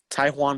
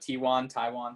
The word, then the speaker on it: Taijuan: Taijuan Walker? Yeah, I'm honestly not sure. It's like Taiwan, something like that. Taijuan Walker.